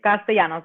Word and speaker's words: Castellanos: It's Castellanos. The L's are silent.